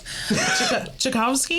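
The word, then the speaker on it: Tchaikovsky: Because to be quite honest with you, I'm having a hard time pronouncing the last name here. Chakowski. Chicowski.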